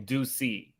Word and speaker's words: Deucey: So it's like his nickname is Deuce. So they call him Deucey.